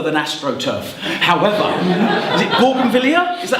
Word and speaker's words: Bougainvillea: However, is it Bougainvillea? Is that how you say it? Yeah. Bougainvillea.